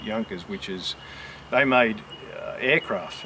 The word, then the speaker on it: Junkers: junkers which is it's if you've seen it written you would say junkers but it's I think in English we pronounce it Yonkers which is they made